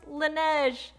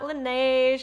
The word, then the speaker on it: Laneige: me and was like it's pronounced lineage lineage susan it's just lineage not laneige i don't now i